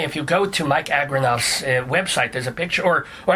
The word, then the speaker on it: Agranoff: It's like like agribusiness, Noff, AGRANOFF. So there's only one O in there.